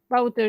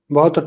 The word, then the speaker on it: Wouter: Oh, my teammate Wouter is leading the race.